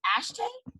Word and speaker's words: Ashtae: Taylor woods who is CEO of now humbly pronounce this is this ashtray yes that's correct so tell us like oh